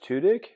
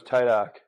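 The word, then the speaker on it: Tudyk: Yeah, I loved him as Is it pronounced tudik? Interesting. Oh, I always thought it was Tidok or something like that.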